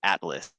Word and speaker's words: ATLVS: So the last one I'll say is Atlas, but it's with a V instead of an A.